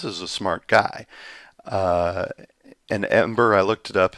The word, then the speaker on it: Em8er: And then creator of Ember, I believe that's how it's pronounced.